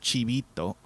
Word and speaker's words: Chibito: It's Chibi and Hito. It's supposed to be pronounced Chibito, and it means small, little, cute child.